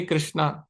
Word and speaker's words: कृष्ण: तो इसलिए वास्तव में कृष्ण तो हिंदी में सही है, लेकिन संस्कृत में कृष्ण नहीं बोलेंगे, कृष्णा ऐसे बोलेंगे।